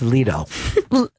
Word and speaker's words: Leto: That's pronounced Leto.